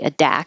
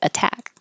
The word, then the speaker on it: attack: position hot water um attack is here as an example of the t's are between two voiced sounds the two vowels but they don't change to D because they're in the stressed syllable we would never say a DA it has to be a t attack bread and breath